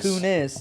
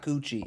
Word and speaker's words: Kunis: Kunis is not Coochie. It's close.